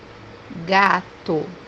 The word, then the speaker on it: gato: We can pronounce it as G. For example, the word cat, which means gato, gato. So, we pronounce it as ga if it's followed by the vowels a, o, u.